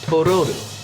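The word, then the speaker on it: トロル: She names him Totoro, a mispronunciation of the Japanese word for troll, Tororu.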